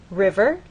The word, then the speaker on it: river: River, you'll either hear people speak or you'll look in a dictionary and understand that the first syllable is stressed, river.